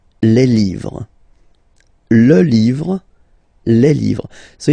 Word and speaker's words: livres: Les, and then same rule, you just write livre, and then you put S at the end, but then you don't pronounce it. Les livres.